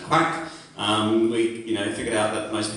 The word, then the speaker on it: QUAC: 2005-06 we changed our name to Queensland Association for Healthy Communities, which we pronounced QUAC.